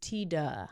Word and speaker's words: Tiede: TAA I was trying it's spelled in a certain way so I didn't know if it was teed or Tida but it's Tida okay T what is